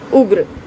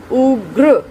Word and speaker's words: उग्र: आप इसमें देखेंगे उग्र जो है स्वर तो है ही उ, उसके पश्चात हमने देखना है कि किसकी ध्वनि पहले आ रही है, ग्र, उग्र, ग फिर र और फिर अंत में स्वर।